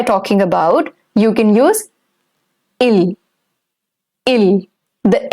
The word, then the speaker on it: il: he, that, and the il that we are using over here, the spellings are different, but the pronunciation is same. It's il and not ils.